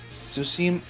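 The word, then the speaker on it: Tsushima: 1905 russell japanese war the battle tsusimo i think the tea is silent like a tsunami in the destruction of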